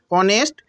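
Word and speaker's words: honest: जैसे देखिए हम लिख रहे हैं ऑनेस्ट बॉय, ऑनेस्ट वाह, बहुत स्टूडेंट इसको होनेस्ट पढ़ते हैं, तो ये होनेस्ट नहीं है, ऑनेस्ट है। यहाँ एच साइलेंट है और ओ से उच्चारण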